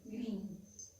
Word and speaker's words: green: Cuando nosotros tenemos dos E juntas, esta se va a pronunciar como si fuera una I. Entonces sería green.